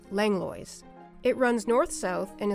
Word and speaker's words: Langlois: for several generations and even have a street named after them which we pronounced langlo it runs north south